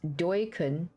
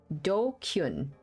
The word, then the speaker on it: DQN: Uh pronounced dokun. Uh dokun.